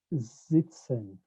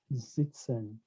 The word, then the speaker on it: sitzen: The same thing as sitzen, sitzen. I pronounce it as a Z because whenever S precedes a vowel, it is pronounced as a Z in German.